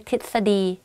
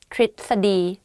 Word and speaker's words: ทฤษฎี: when I talk, because it's very difficult to pronounce it.Like correctly in daily life, I just say ท ฤ ษ ฎี ท ฤ ษ ฎี but it's wrong though.